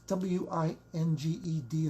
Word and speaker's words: winged: Do you pronounce W-I-N-G-E-D as winged? That's how I was taught, right? Proper English, proper Greek, winged Pegasus. The way poets pronounce winged.